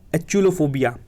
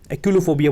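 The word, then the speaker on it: achluophobia: Sixth, ये है एक्यूलोफोबिया। एक्यूलोफोबिया बोल सकते हैं, एक्यूलोफोबिया, है ना। इसकी स्पेलिंग देखना, ACHLUO फोबिया, याद रखना।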